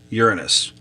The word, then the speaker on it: Uranus: Speaking of holy and holes, the term of the planet, how to pronounce the planet is Uranus.